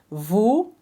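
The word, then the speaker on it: vous: talk we were talking Vu that means you plural or the formal respectful way of treating someone in French remember the S is not pronounced so that's the first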